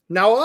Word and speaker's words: Naosis: You said it wrong. Naosis.